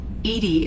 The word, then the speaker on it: EDI: are you named Edie Edie is the phonetic pronunciation of EDI that is an acronym for enhanced defense intelligence I want to change